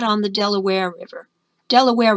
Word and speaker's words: Delaware: Delaware rhymes with underwear, but Mount Vernon is on the banks of the Potomac.